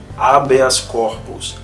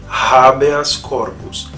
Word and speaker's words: habeas corpus: Porém é preciso lembrar que ele não é mudo. Então aquela pronúncia do pessoal, por exemplo, no latim jurídico, habeas corpus, para a língua latina está errada. É uma pronúncia tradicional do meio jurídico, mas considerando a língua latina está errada. O correto é habeas corpus.